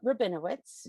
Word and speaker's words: Rabinowitz: in film and i have connected with adam rabinowitz did i say that right adam you said